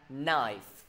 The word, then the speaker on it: knife: K với N đứng bên cạnh nhau luôn luôn phát âm là N.